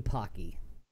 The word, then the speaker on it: Pocky: really yeah part of the cars while eating Pocky did I did I pronounce that right yeah yeah Harding the cards